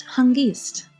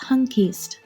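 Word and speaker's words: հանգիստ: In Eastern Armenian it is pronounced hangist. In Western Armenian it is pronounced hankist.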